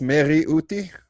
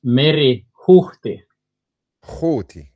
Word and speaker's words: Meri-Huhti: But uh it's Mary Uti or uh uh it's it's Mary Hi. Hi. Hi. Yeah. It has like a H which you actually you pronounce the H.